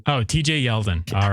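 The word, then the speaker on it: Yeldon: Gore shoot that's 2020 name rhymes with Sheldon oh TJ yelen all right that would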